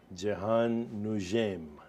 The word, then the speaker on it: Jehane Noujaim: my very special guest is Egyptian American filmmaker Jian Nim right pronounce it correctly perfect so um lot's been